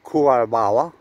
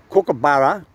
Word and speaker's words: kookaburra: word not emu as emu it's not it's pronounced emu the same as kokobara not kurobawa like somebody likes to say kookaburra old man things like the cook you know